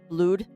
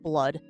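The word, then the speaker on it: Blod: whoever does the Viking blued and yes it is pronounced blue not blood um they're also really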